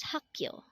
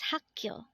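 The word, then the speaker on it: 학교: term for water is mul next word is hakyo again this is pronounced as hakyo and this is the Korean term for school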